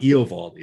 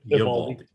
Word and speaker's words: Eovaldi: It's not Eovaldi, it's Eovaldi.